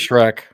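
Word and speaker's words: Schroeck: It is Shrek. Okay. It is Shrek. The actual German spelling didn't have the E, but had the umlaut O, so it's pronounced Shrek.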